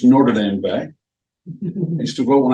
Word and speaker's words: Notre Dame Bay: It's pronounced Notre Dame Bay.